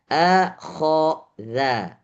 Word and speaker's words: فأخذ: Akhadha. Akhadha. Jadi ada a tipis, kho tebal, za tipis lagi.